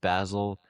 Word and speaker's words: Basil: It's pronounced Basil, but if you want to change it, that's fine.